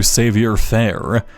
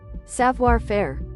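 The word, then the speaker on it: savoir faire: I did put one point into Savior Fair. Savior. How do you say that? Savio Far. One sec. Savior. Savior fair.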